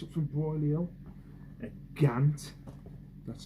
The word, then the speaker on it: GANT: One thing I picked up from Broiley Hill, a GANT. That's how you pronounce it.